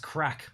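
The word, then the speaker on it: craic: finally virus free now crack pronounced crack irish word for fun there you go ten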